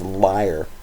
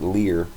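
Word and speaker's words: lyre: call it a liar it's kind of hard to pronounce that for me even though I know it's liar sometimes I want to call it Lear but this liar it's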